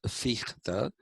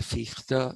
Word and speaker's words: Fichte: Okay, some people pronounce it as Fichte. Uh, I guess both are acceptable. You want to say Fichte, you can say Fichte, or you can say Fichte.